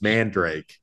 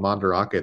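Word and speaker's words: Mandarake: store that we went to that we were pronouncing as Mand Drake and and I was talking to my brother about it he's like oh yeah I went to this place called mandake that I liked a lot I was like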